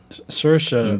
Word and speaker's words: Saoirse: and and you know and how do you pronounce help me with that first name sure sure Saoirse Roman good our Lady Bird yeah I think